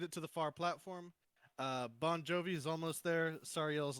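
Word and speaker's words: Banh: Bon Jovi? Jovi. I'm blue. Who's Bon Oh, Jovi? Oh, That's me. Rams. That's I right. love It's- that. It's spelled B-A-N-H, Jovi. Like bun me. It's no E.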